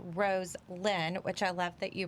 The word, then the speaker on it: Roselyn: and what she um her name is pronounced rose lynn which i love that